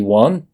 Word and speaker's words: one: Si los pronunciaste como flood y one, De flood y one.